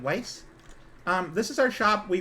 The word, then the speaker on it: Wise: Like, spelled like the word wise, like wisdom, but it's, like, pronounced like Weiss.